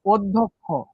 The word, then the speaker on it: অধ্যক্ষ: আবার দেখো, অধ্যক্ষ, এই যে অর পরে কি দফালা আছে না, তাহলে অর উচ্চারণটা কেমন হয়ে যাবে? ও হয়ে যাবে। অধ ধক খ। এই যে ক প্লাস খ কেন হইলো? এখানে যুক্ত ব্যঞ্জন বা একটা ক্ষীয় ছিল।